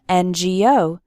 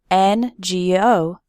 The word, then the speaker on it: NGO: then we say an ngo why because the letter n starts with the vowel sound e and n g o number three do not